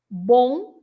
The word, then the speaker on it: bom: Because there is a nasal sound when the M has a vowel before it at the end, right? At the end of the word.